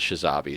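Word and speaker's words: Tshizabi: were in a span called shazi spell with a silent T at the beginning in case you want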